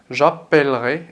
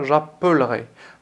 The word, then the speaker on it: appellerai: Parce que tout simplement, on va prononcer j'appellerai et non pas j'appellerai. Lorsque je prononce le son P, je double la lettre L.